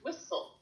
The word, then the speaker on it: whistle: so loudly so we we actually the tea is silent so it's whistle it looks like a whistle loudly good now